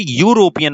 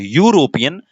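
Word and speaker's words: European: क्योंकि भैया इसका जब प्रोनाउंसिएशन करोगे तो यूरोपियन आप बोलते हो। आप क्या बोलते हो, यूरोपियन। और यूरोपियन में यू जो है यानी यह जो है वो हो जाता है व्यंजन, जिसे हम बोलते हैं कॉन्सोनेंट।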